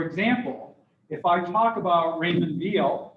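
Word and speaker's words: Raymond Weil: than others for example if i talk about raymond veal it's pronounced with a b even though it's spelled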